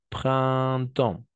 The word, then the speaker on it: printemps: Printemps, printemps. De la même façon, un, n'est-ce pas? Printemps, un, printemps, printemps, printemps, printemps. On va prononcer comme ça, d'accord?